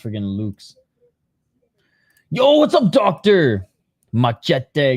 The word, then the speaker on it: Lux: He was like, "It's pronounced Lux." I'm like, dude, I wish it was pronounced Lux, but it's pronounced freaking Luke's.